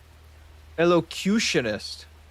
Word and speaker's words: elocutionist: And then there's you, the cautionist. How do I say this one properly? So we're gonna Google how to pronounce it properly, because this one's it's really bothering me.